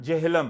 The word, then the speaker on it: झेलम: कश्मीरी जुबान में झेलम का उच्चारण जेहलम है।